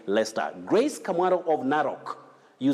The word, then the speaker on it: Leicester: should say lester but that is not the pronunciation of that name you say lester grace camaro of naroq you say vehemently not